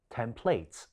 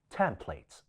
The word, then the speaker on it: template: 經理讀咗 Template 將重音放咗喺第二音節，其實正確嘅讀音係 Temples, Template 。重音係放喺第一個音子。